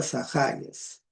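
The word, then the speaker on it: Ζαχαρίας: En griego se pronuncia Zaharias.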